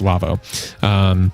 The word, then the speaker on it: Lawo: Lavo spelled Lawo. It's German, but it's pronounced Lavo.